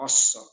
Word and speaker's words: Асса: Асса-Дин или Ирон-Дин, Вас-Дин, я его называю Асса. Так правильнее произносить и писать с двумя латинскими «с», которые образуют четырехлучевой солярный символ, который и проясняет, отображает вот само слово, суть, истину, асса.